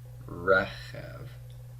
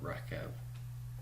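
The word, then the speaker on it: רֶכֶב: Notice that I would expect this final syllable to be stressed, but since the stress actually goes with the re of rechev, this vowel point is added to tell us to stress the non-final syllable.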